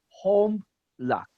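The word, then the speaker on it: הָמְלַךְ: Right, Homlak. home luck. So it's Homlak. not home me, because as I said, the shua Homlak. should be silent. So home luck.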